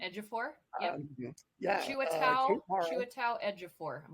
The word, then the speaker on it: Ejiofor: Ejiofor. Yep. Yeah. Chiwetel Ejiofor. I'm going to Thank you. Ejiofor.